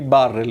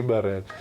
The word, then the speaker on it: Burrell: Io pensavo si pronunciasse Kenny Barrell, invece ho saputo da te che così non è. Sì, non dobbiamo temere l'accento finale. Kenny Barrell. Kenny Barrell.